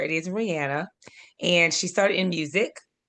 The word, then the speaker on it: Rihanna: It is Rihanna.